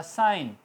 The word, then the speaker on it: sign: For example SIGN, I और N के दरमियान G आ गया तो G साइलेंट रहेगा, लफ्ज़ होगा साइन।